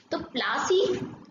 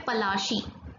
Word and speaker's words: पलाशी: this festival of Holi प्लासी जो यह नाम है असल में इस जगह का नाम है पलाशी ठीक है लेकिन अंग्रेज इसको सही तरीके से उच्चारण कर नहीं पाते थे हिंदी का इसलिए उन्होंने पलाशी का अभिलाषी कर दिया और पलाशी का